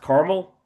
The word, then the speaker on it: Carmel: Indy now in a town called is it pronounced Carmel?